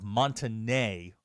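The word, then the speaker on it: Monte Ne: One of our local news channels had a new anchor in town, and the story was out of Montanay, Arkansas. Montanay, yes. And he referred to it as Monty Northeast.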